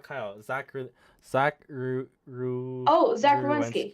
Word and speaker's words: Werenski: Zach Oh, Zach Werenski. Ruwensky. Thank you for pronouncing it.